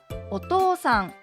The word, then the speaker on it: お父さん: お父さんもひがではお父さんと書きます。でも実際にはお父さん、お父さんと伸ばした音で発音します。